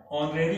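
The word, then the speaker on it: honorary: हुआ है एच से, किससे शुरू हुआ है, ऑनरेरी पोस्ट भी जो है किससे शुरू हुआ है,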